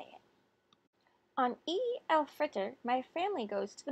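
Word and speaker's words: Eid al-Fitr: taught the kids how to say it on E Al Fritter my family goes to the mosque to pray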